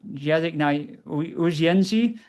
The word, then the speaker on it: język na uwięzi: It's in Polish, język na uwięzi. Probably butchered that. Język na uwięzi, I think is how you say it in Wow. Polish, which is not at all how it's spelled.